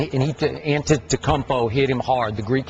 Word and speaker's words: Antetokounmpo: Yeah, it's Antetokounmpo. Antetokounmpo. Greek Freak. That's the first time I heard it pronounced correctly.